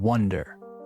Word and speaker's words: wonder: to wander with to wonder as in I wonder where they are. Two different verbs with very similar pronunciation. Wander and wonder.